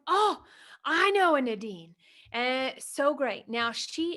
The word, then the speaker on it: Nadine: Nadine, not Nadine, right? Oh, And I my love bad. that. No, it's okay. You said it right. It's people in the US say it different than people in Europe.